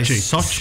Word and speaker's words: Sochi: How do you pronounce it here? Sochi. Sochi. We just say Sochi.